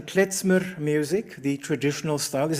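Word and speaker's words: Khmer: the sense that um and excuse my pronunciation kmer music the traditional style is that pronounced correctly kmer kmer yeah yesmer so I I do apologize for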